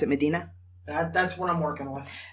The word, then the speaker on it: Medina: And I settled on Medina because I think it fits better with the fantasy setting.